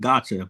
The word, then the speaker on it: gacha: item you want, and that's why they call it gotcha. But it's like spelled like GACHA.